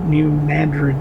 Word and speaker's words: New Madrid: New Madrid, not Madrid. It is named after the city in Spain, but we pronounce it differently.